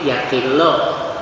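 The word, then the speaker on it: يَقِلُّ: Jadi yukillu bacanya kalau menyedikitkan, kalau sedikit yakillu, kalau menyedikitkan yukillu.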